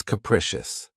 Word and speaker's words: capricious: of my favorites, is capricious. This word has three syllables and the stress is on the second syllable. Keep in mind that the first syllable has that schwa sound krecious. Capricious.